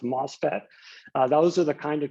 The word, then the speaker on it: MOSFET: They have the name MOSFET, it's pronounced MOSFET.